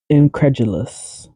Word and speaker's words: incredulous: of hard incredulous incredulous incredulous so instead of credulous like pronouncing the D it's more sounds more like a j incredulous J incredulous completely